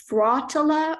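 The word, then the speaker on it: frottola: repeated with each verse are there any alternate pronunciations there's fratella or fratella f r a t e l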